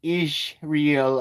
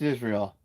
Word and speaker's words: Israel: Uh, it's not pronounced is real. Uh, it's pronounced Israel.